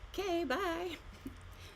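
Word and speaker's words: K.Bai: And her name is spelled K. Period. B A I like K. Bye.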